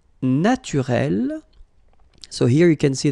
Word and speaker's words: naturel: Naturel, naturel. So here you can see that we write them differently, but then phonetically they are the same.